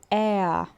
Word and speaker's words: er: O próximo pronome aqui é o Ea. E a é gente, eu vou anotar uma escrita em português, seria como se fosse o e com acento seguido de um a.